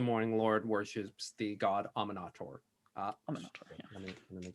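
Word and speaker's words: Amaunator: So you know that the House of the Morning Lord worships the god Aminator. Aminator, yeah. Let me make sure I got the pronunciation. Illuminator. Amanator. Amanator.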